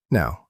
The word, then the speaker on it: know: We write a K at the start, but we don't say it.